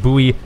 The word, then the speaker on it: buoy: not surprising and some boys as well and yes it's boys it's the British pronunciation British and Canadian pronunciation I know everyone keeps saying it should be pronounced buoy no that's the American